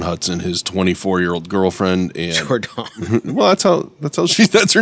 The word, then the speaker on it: JorDon: Well, no, but it's spelled, it's J. Oh, yeah. Jordan would be D-A-N, not D-O-N. So okay. it's JorDon.